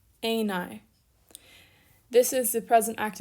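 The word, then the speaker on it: εἶναι: new alpha yoda and here we have smooth breathing a9 not heine and then a circumflex over that first iota aenai this is the present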